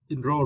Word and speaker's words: enroll: yeah and as uh enroll right in rooll and for this question you need to stress the second cable ro ro enroll enroll is meant to arrange